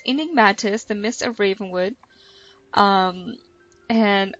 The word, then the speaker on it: Enigmatis: I finally learned how to say it. It's Enigmatis. So it's Enigmatis, the Mist of Ravenwood.